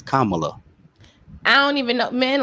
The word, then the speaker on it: Kamala: Please say her name right. Talk Give about that woman her credit. Kamala. Kamala. See, it's Kamala.